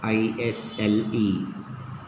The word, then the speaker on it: isle: Okay, now take another set of letters like yes, S as silent in aisle, I-S-L-E. Isle, island, etc. Okay, isle, island, okay, where S is silent.